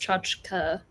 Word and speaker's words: tchotchke: mispronounce uh misspell aunt it's pronounced chachka oh yeah i couldn't